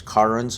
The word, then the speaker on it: cairns: They're also known as cairns. I believe that's the Gaelic pronunciation.